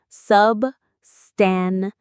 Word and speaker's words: substantive: It's pronounced substantive.